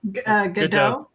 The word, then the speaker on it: Gadot: I know I'm saying her last name wrong. Gadot.